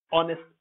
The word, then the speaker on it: honest: honest not honest honest here is an exception it doesn't follow the rule so it's an exception honest not honest honest is the correct pronunciation